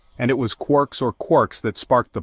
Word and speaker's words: quark: talking about his ideas referred to these subhydraic fragments as quirks rhyming with pork.